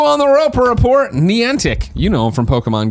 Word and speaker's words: Niantic: The Niantic, I'm saying it right, Niantic Beyond Reality, you got me good.